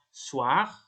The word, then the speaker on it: soir: Ya, gabungan huruf OI. Ini cara bacanya wa. Wa. Ya, pasti wa. contohnya itu ada soir, terus voir, terus ada loin. Soir itu malam, voir itu melihat, dan loin itu jauh.